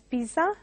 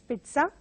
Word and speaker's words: pizza: So again, mispronounced as pizza by many. They go by the spelling, but it has to be pronounced as pizza.